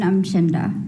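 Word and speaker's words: Umchinda: I'm Chinda. Will you spell that, please?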